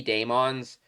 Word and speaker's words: Daemons: I still think it is pronounced demons. It could be Daemons, but I don't think it is.